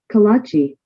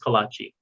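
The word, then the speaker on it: kolache: let's see here um kalachi okay so it's pronounced kolachi okay and and he's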